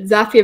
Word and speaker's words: Zapier: cool they're happier with zapier slogan i didn't know about that so definitely remember that there's one zafia makes you happier yeah yeah no there's